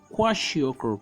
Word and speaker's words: kwashiorkor: The first one we have is called kwashiorkor. Can you see the spelling, please, in case I ask you in an exam? It's spelled as Kwashiokor. I repeat that, Kwashiokor.